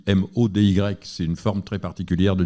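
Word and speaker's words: MODY: Quand on dit à un patient vous avez un diabète maudit, ça fait peur parce que ça s'écrit pas m a u d I t, ça s'écrit m Oy.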